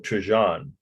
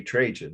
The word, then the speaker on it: Trajan: second this is the column of trajon or some say trajan i've heard it pronounced both ways in italy itself so it could be either way but the spelling is